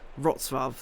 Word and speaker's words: Wrocław: Wrocław, yeah, there we go.